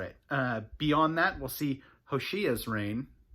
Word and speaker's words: Hoshea: Beyond that, we'll see Hoshea's reign. It's tempting to look at that and think Hosea. I think it's Hoshea. I think that's how you say it.